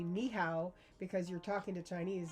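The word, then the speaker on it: 你好: But you need to say ni hao. And he actually wrote out ni how. That's how to say it.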